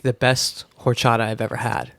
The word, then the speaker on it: horchata: And he even pronounced horchata like in the right accent.